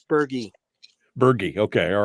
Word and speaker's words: Bergey: whole let's bring him on right now Tom Bergie Bergie Tom I'm not sure which way to pronounce it you tell me and we'll we'll get started from there oh good morning Michael it's Bergie Bergie okay all right well thank you for